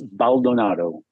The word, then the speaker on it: Baldonado: How do you pronounce that? It's Baldonado. Baldonado.